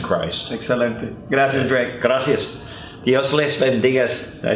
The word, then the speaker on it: Dios les bendiga: Dios les bendiga. Did I say it right? Yeah. Dios les bendiga.